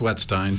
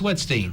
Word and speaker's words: Wetstein: wetstein and actually it's pronounced wetstein but you know I asked one okay yes I don't want to mess that up she was always wet steam no I answer the both but good afternoon everybody I apologize dr.